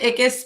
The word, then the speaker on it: Ickes: please correct it's okay it's kis but people have been saying it wrong my whole life it does not